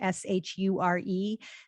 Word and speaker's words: Shure: And anything you're buying from Audio Technica, from Rode, or from Shure, which is spelled with an H, Shure, they are reputable, solid brands, and pretty much everything they sell you is going to be of good quality.